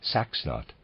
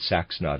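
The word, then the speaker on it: Saxnot: Europe meant when they spoke of their God sax not the symbol of the crucifix hovers over the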